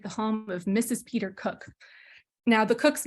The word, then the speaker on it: Koch: Peter Koch. Now, the Koch's name is spelled K-O-C-H.